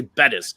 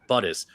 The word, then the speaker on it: Bettis: uh Jerome buttis and because I didn't say Bettis because I accidentally said buddus some guy was in my comments it's pronounced Buddhist do you even watch football [